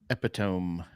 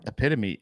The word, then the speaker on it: epitome: What's yours? Epiome. Epome. What were you saying? Epitome. It's supposed No. Epitome is the word, but I put epiome.